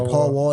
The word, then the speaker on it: Paul Wall: Yeah, Paul Wall. That's how you say it.